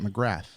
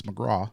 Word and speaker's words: McGrath: I am because I would pronounce it McGrath, but I've learned it's McGraw.